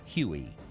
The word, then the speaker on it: Huey: The helicopter quickly developed a nickname derived from its designation of HU-1, which came to be pronounced as Huey.